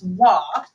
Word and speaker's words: Waugh: It's Waugh. The GH are not pronounced.